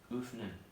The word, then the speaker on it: öffnen: Contohnya itu öffnen, membuka artinya. Lalu untuk yang O umlaut panjang di sini dapat diucapkan sama seperti O pendek, tetapi O umlaut pendek tapi lebih panjang.